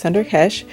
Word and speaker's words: Sunder Kesh: So we are in the showroom for Sunder Kesh hair, and I was actually mispronouncing it. It's pronounced Sunder Kesh, but you can see that there are so many options for textures, lengths, colors.